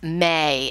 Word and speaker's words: me: It's spelled M-E, but it's pronounced may, as in M-A-Y.